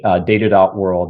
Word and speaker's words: Data.World: Yeah, we launched we founded in 2015 and we launched Data.World. It's Data.World, by the way. Yep. Always pronounce the dot.